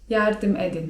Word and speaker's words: yardım edin: Lub jeżeli chcemy się do kogoś zwrócić 'proszę mi pomóc' to możemy powiedzieć: yardım edin (czyt. jardym edin) Teraz moi drodzy już